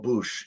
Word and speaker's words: Bouche: It says, "Hey, my name is Andy Bouchenville, but I go by Andy or Bouche." Yeah, I know it rhymes with douche.